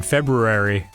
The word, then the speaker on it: February: It's just like if you pronounce the R in February, people will be like, "What?" Yeah, but you have to pronounce the R in library, or else you look like a weirdo.